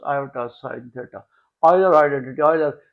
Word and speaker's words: Euler: Euler. We pronounce Euler, write Euler. We write Euler but pronounce Euler.